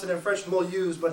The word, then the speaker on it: Mulhouse: This is a huge train station, and we pronounce it in French Mulhouse, but it's Mulhouse.